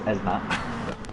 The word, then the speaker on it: Esmat: It's Maged Esmat. To confirm, that's how you pronounce his name, is Esmat.